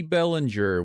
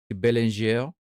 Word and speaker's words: Bellinger: Bellinger. Bellinger. It's Toronto, so it's not Bellinger. It's Bellinger. Bellinger.